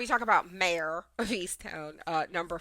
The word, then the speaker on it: Easttown: Easttown. And John, how do you say it? Easttown. No, that's how I said it. No, you said Easton. Easton.